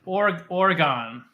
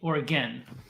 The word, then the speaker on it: Oregon: Oregon. Is it Oregon or Oregon? I remember in a video, I think it's Oregon. Oregon. Well, it's spelled Oregon, but people say Oregon.